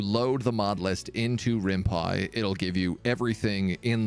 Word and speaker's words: RimPy: get out there so how is this spelled r-i-m-p-y rimpy it's rimpai because it's Rin python it's written in Python I believe this this